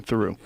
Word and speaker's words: Theroux: Theroux.